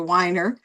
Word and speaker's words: Weiner: When I went to college, I changed the pronunciation to Weiner, Weiner. It's Einer.